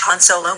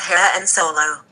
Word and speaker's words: Han Solo: did you know that Han Solo die in the force awakens yes kou I knew that but you were pronouncing his name wrong it's Han Solo not her and solo no Clementine it is